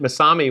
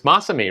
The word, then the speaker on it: Masami: See, I just pronounced it MASAMI when it's MASAMI, right?